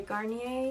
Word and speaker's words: Garnier: ordinary hyaluronic acid i have a sunscreen by garnier is how you say it um my friend